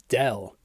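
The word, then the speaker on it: ∂: The partial derivative gets a special notation with a stylized d that can sometimes be pronounced as del.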